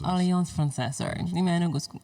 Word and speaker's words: Alliance Française: How do you pronounce that again? Alliance Française. Alliance Française, sorry.